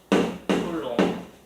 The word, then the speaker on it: Coulomb: 쿨롱 프랑스 사람이라서 발음이 쿨롱이에요. 롱. B가 무음이고 L을 옹으로 읽어요.